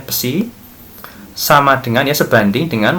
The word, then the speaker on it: psi: Nah, sehingga kita bisa menentukan persamaannya Jadi flux total, ini flux kita simbolkan dengan psi ini, ya dibacanya psi, sama dengan ya sebanding dengan muatan total lagi, ya yang dilingkupi permukaan.